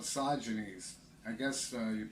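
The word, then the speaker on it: Sosigenes: The lead-in guy was called Sogenes. I guess you pronounce it Sosagenus now, but when I talk about him in high school, Sogenes, that's where I'm going.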